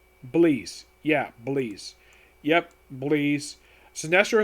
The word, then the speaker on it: Bleez: Is that Basil? It is Bleeze.